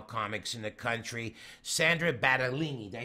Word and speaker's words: Battaglini: the ballsiest female comics in the country, Sandra Battaglini.